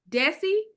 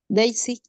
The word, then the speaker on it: Daisy: Is it Desi? Daisy. Daisy? Oh, Daisy. Oh, Miss Daisy.